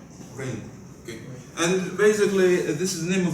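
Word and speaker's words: Rijndael: uh basically this uh this is uh pronounced rainbow rainbow okay and basically this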